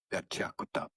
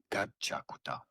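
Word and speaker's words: Gachiakuta: So it's pronounced as one word, gachakuta, gachakuta.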